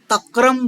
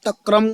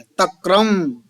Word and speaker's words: तक्रम: देखो आप तक्रम बोलो तो तक्र है। तक्र भी नहीं बोलना है। तक्रम ये इस तरीके से बोलना है।